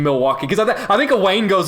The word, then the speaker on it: Milwaukee: And he gives like a background to like the name Milwaukee. Because I think Wayne goes like, "So, come to Milwaukee often?" And he goes, "Actually, it's pronounced Milwaukee."